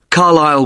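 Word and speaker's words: Carlisle: 45 Carlile Way. Could you spell Carlile for me? Sorry. It's C A R L I S L E. You don't pronounce the S. Carlile Way and that's in Lewis.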